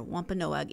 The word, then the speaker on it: Wampanoag: That it was in 1621 when the Pilgrims and the Wampanoag, I was trying to put too many syllables in there, Wampanoag Indians held their feast in Plymouth County.